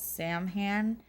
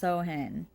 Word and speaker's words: Samhain: looks like to us americans that it's called samhain but it's actually pronounced sohin so so in that's what they did and